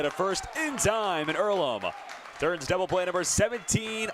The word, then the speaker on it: Earlham: me okay so is it ireland is it pronounced earlham it's earlham and it's a place for amateur farmers athletes